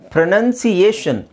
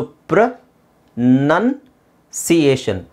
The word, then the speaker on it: pronunciation: ಸಿ, ಇದು ಬಂದು ನೋಡಿ, ಪ್ರೊನೌನ್ಸ್ ಅನ್ನೋದು ಉಚ್ಚಾರಣೆ ಮಾಡು, ಪ್ರೊನೌನ್ಸಿಯೇಷನ್ ಉಚ್ಚಾರಣೆ. ಸೊ ಇದು ಬಂದು ಪ್ರ, ಅದು ಪ್ರೊ ಅಂತಲೂ ಹೇಳೋಗಿಲ್ಲ, ಪಿ ಆರ್ ಒ ಪ್ರೊ ಅಲ್ಲ, ಪಿ ಆರ್ ಒ ತುಂಬ ಕಡೆ ಪ್ರ ಅಂತ ಆಗುತ್ತೆ ಇಂಗ್ಲೀಷಲ್ಲಿ. ಸೊ ಪ್ರ ನನ್ಸಿಯೇಷನ್, ಪ್ರೊನೌನ್ಸಿಯೇಷನ್ ಅಲ್ಲ, ಪ್ರೊನೌನ್ಸ್ ಅಷ್ಟೇ ಬಂದಾಗ ಪ್ರೊನೌನ್ಸ್